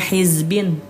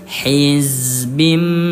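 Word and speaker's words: حزب: Jadi nanti enggak ada lagi yang bacanya hizbin tidak ada. Tapi dirubah menjadi hizbim bima ladaihim. Allah ya Allah.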